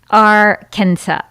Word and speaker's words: Arkansas: It's Arkansas. Arkansas is a gas station on my way home to Kansas. But why is there a silent S in Arkansas?